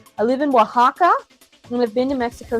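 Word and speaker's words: Oaxaca: me here it says you see the o a x a CA that's pronounced Waka everybody I know it looks like oaka or something like that no that's Waka uh I love Waka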